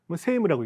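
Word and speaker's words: 世務: 그 다음에 세무오 히라키 세무라고 읽는다고 하는데 세상의 일을 펼쳐가고 세상의 일을 펼쳐가는 거야.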